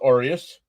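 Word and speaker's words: Arias: Oh, Arius. It's pronounced Arius.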